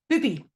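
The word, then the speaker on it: Bybi: It's called, I have to pronounce this very carefully because that Y in Danish is U. It is Bubi.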